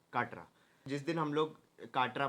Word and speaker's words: Katra: That is काटरा। I think I am pronouncing it right, it इज KATRA, काटरा।